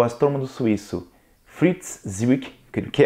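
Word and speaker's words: Zwicky: Na década de 30, o astrônomo suíço Fritz Zwick, que é assim que é a pronúncia, tá?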